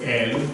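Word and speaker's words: אל: Aleph. E. Lamed. So this one is El.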